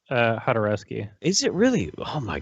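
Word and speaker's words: Jodorowsky: He's Mexican, but it's pronounced Hodorowski.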